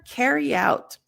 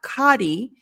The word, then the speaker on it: carry: The next phrasal verb, carry out. So this one, it's the same as before with ketchup. So it's not kadi, but ke, more like an E sound instead of an A.